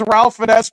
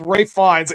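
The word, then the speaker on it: Ralph Fiennes: in the road FES I listen it says Ralph Fess but it's Ray fines it's a weird dang name to pronounced but that is how you say his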